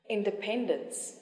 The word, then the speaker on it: independence: geography geography especially especially and now the stress is on the third syllable economic economic economical economical application application independence independence celebration celebration artificial artificial this